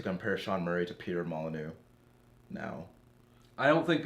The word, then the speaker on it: Molyneux: like the way that Peter Molyneux and or Molyneux, as is the proper pronunciation of his name.